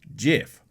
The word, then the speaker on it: GIF: oh off first off it's officially jiff so spelled backwards it